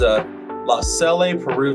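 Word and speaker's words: LaSalle-Peru: First one is La Salle, Peru Township High School.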